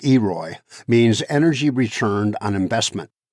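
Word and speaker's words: EROI: leave no fuel unburned e r oi pronounced eroy means energy returned on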